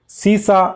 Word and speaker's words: सीसा: आने वाला शब्द है सीसा और शीशा। उच्चारण आप सुन रहे होंगे, कुछ विद्यार्थी तो ईयरफोन लगाकर सुनते हैं तो उनको और भी ज़्यादा शुद्ध सुनता है। सीसा, शीशा, सीसा दंते स है, इसका अर्थ होता है